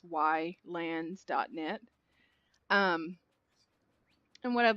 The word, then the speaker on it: Ylands: almost daily on why I know it's pronounced islands for the game but it's why lands net and what I'd